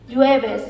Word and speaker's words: jueves: In Spanish, we say ju, ja, je, ji, jo, ju, jueves, jueves. Maybe in English you will say like jueves, jueves, something like this, I think. I don't know, but in Spanish it's jueves. It's like H in English, okay? Always ju, okay?